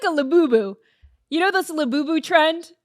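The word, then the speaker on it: Labubu: This looks like a laboo.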